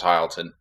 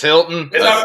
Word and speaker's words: Hilton: dude I don't know I thought it was hi Alton is it Hilton it's Hilton what of course it